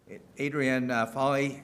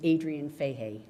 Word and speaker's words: Adrian Fahey: Adrienne Foley, and then Luke Foley. Thank you very much, but the correct pronunciation is Adrian Fahey.